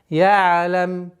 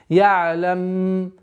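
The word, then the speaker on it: يعلم: Айн при сукуне нужно такое немножко скользящее произношение. Ялам. Вот такой интенсивности у звука айна нет. Ялам.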